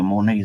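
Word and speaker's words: Moaney: was the Monaet zone. That's my last name. Monae. Spell it.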